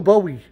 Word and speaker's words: Bowie: you supposed to pronounce belly is how you pronounce joey joey yeah joey the bowie bowie joey okay joey joey oh yeah let's